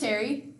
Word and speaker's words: Terri: so my name is Terri like teriyaki I'm 26 years old